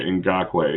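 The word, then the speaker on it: Ngakoue: I just cannot pronounce it right now. Ngakwe. Yeah, Ngakwe.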